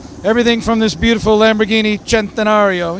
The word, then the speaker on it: Centenario: Everything from this beautiful Lamborghini Centenario, you have to say it like that, Centenario, to new buggies and